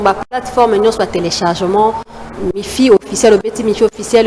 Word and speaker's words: Miphie: Mifi officiel, le petit Mifi officiel. Le Mifi là ça s'écrit M-I-P-H-I-E officiel.